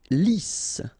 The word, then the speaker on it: lisse: Lisse, double S here, so it's really a strong S, lisse. Okay, don't insist on the final E, lisse.